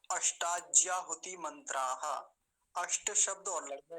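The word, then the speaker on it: अष्टाज्याहुतिमंत्राः: अष्टाज्याहुति मंत्राः, ऐसा इसका उच्चारण होगा। मंत्राः क्यों लगा? क्योंकि 8 मंत्र हैं। एक मंत्र होता केवल तो क्या कहते? मंत्रः। अब 8 मंत्रों की बात चल रही है तो हम बोलेंगे मंत्राः।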